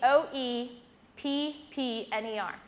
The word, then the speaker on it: Hoeppner: Yeah, it's spelled, it's German. It's my husband's fault. It's Hoeppner.